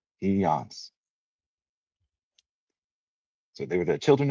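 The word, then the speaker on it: Pillán: So the double L is pronounced like a Y. So Pans. Pans. Okay. Pance.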